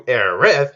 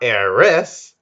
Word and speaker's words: Aerith: And we are introduced to Aerith, yeah, not Eris, like in the original English translation.